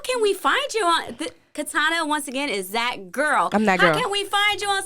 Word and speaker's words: Katiana: letting y'all know but it's k a t i a n a and my eye is silent but as you can